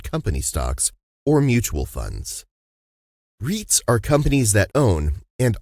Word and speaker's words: REIT: buy real estate investment trusts reits what is a reit reit rhymes with sweet stands for real estate